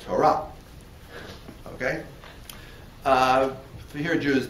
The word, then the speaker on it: Torah: Or if you follow an Ashkenazi mode of pronunciation, Ashkenazi. All right, I don't have time to deal with that. If you follow a European Jewish mode of pronunciation, Torah. Right, but the right way to say it is Torah.